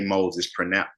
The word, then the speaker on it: Mose: Augustine called Garcia Rio de Santa Teresa de Moses, pronounced Mose.